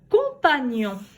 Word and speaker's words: compagnon: Compagnon.